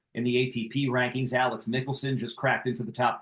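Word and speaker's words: Michelsen: his name looks like Michaelson it's Mickelson pronounced like the golfer um so that that's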